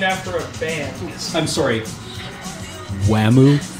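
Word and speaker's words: Wamuu: series is named after a band I'm sorry WAMU it's Wu Wu it's pronounced WAMU so they uh they they they put some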